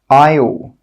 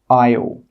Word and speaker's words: isle: The letter S is normally not pronounced when it's before an L. Some example words are isle, island, isle. In all of these words, we're not pronouncing that S sound. It is a silent letter.